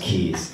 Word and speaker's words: Quays: need to be a it's pronounced keys or whatever it's right near